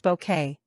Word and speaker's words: Bucket: The comedy followed the trials and tribulations of snobby Mrs. Bucket pronounced bouquet as she attempted to climb the social ladder.